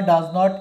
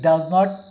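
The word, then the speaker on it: doesn't: আর আর ডাজ নট এর উচ্চারণ হবে ডাজেন্ট।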